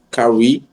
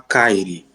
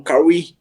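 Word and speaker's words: Kyrie: E aí, cara, na minha cabeça, tá ligado, o nome dele se falava Kiri, Kiri Irvin, tá ligado?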